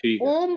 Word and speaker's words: ओम: ओम का उच्चारण करेंगे और ओम का उच्चारण तीन भागों में होना चाहिए पहले अ ओ अ और म म समाप्ति होनी चाहिए ओ कोशिश करना है ओ से स्टार्ट करके ओ और और म क्योंकि ये ब्रह्मा विष्णु